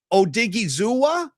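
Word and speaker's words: Odighizuwa: And I want to ask you, first of all, let's do a little classroom session on pronunciation. Is it Osa Odigi Zua?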